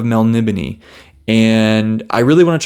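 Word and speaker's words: Melniboné: I believe I heard Jimmy Nuts say Melnibone. I believe I heard that, Elric of Melnibone.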